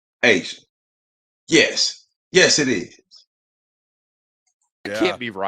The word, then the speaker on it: A'ja: apostrophe J-A is pronounced Asia? Here you go. It goddamn show is pronounced Asian.